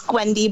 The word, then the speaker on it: Gwnedy: It's Gwnedy, but that's okay.